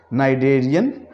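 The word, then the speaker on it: Cnidarian: तो हमने सीखा कि किस जगह पे किस वर्ड को हमने नहीं बोलना, नाइडेरिया, नाइडेरियन, नाइडॉयल। इन अल्फाजों में हमने देखा कि सी को हम प्रोनाउंस नहीं कर रहे, CN आ गया, नाइडेरिया, नाइडेरियन, नाइडॉयल।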